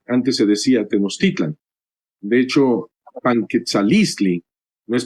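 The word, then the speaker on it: Tenochtitlan: se dice teotihuacán y tenostitlán? No se dice cuautitlán, sino cuautitlán. debe debería de tenerse el acento eh, no en la última, sino en la penúltima.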